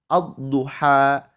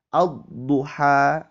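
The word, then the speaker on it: الضُّحَى: Ad-duha. Ad-duha. Alif lamnya tidak dibaca.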